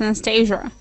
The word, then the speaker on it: Anastasia: far left side with Anastasia hello Anastasia uh hello but I U my name is just pronounced Anastasia Anastasia where you from Anastasia